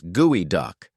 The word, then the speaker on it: geoduck: It's gooey duck, which sounds more like something your toddler would spill on the carpet.